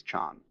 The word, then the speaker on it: Chan: Just as Zen is the Japanese pronunciation of Chinese chan.